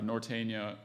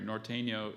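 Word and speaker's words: Norteño: helped a lot and and a sentence uh Nortena I'm sorry Norteno is related to the polka you know our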